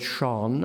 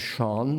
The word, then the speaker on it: shone: He pronounces the word shone as shone, not as shone, as is one American custom.